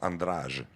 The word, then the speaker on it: Andrade: pas tout casser andrade ça s'écrit andrade mais ça se prononce en rage dans les juges et